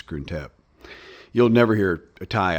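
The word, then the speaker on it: Krung Thep: So Grunt is how you say Bangkok by the way. I I don't know where Bangkok comes from. That's like the foreigner use of it, but the real name is is Gruntep.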